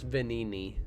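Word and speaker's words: Venigni: shut down the factory says pronounce venini you don't pronounce the G okay I probably should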